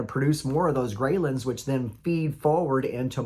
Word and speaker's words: Ghrelin: hormones okay there's the grin hormones which is spelled g re e h l i n i kind of almost think of it like the Gremlins okay because greylands make